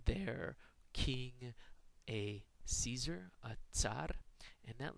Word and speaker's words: tsar: We say, I think, czar in English most commonly. The Russians say tsar.